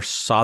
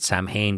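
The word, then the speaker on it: Samhain: myself included the first time that we ever saw the word Sam Hayne was when danig came out with the band Sam Hayne and I think most people pronounce it Sam Hayne just because nobody had ever seen or you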